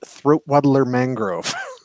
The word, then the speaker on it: Luxury Yachts: It's pronounced, the sign says Raymond Luxury Yachts, but it's pronounced Throatwaddler Mangrove.